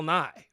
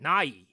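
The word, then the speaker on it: Nighy: with a little bit of an emphasis on the E at the end. Nye.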